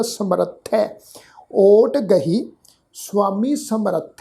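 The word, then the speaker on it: ਸਮਰਥਹ: समर्थ है शब्द है जी, ख्याल रखना। ससा मम्मा रारा थत्था फिर हाहा अखर मुक्ता। हाहा अखर जिहड़ा मुक्ता है वो थत्थे अखर के उपर दुलावां दे पाठ वांग उच्चारण होएगा समर्थ है।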